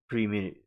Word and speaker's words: perimeter: per uh perim perim perimeter. Perimeter. Perimeter's how you pronounce it.